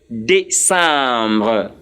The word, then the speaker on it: décembre: And the last of this list is Décembre.